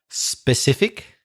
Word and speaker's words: specific: is a word specific don't say that at the beginning that was your only mistake in pronunciation but maybe that's because you think there's a letter e but there isn't it's specific but anyway that's also